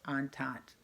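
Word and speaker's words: entente: Great Britain rush they are called the triple on tante that's how that word is pronounced on tot say it out loud nobody's gonna listen on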